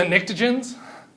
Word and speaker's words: pnictogens: Pictogens? It's a loud P. It's pronounced. Pictogens? I'm lying. It's not pronounced. These are the pnictogens.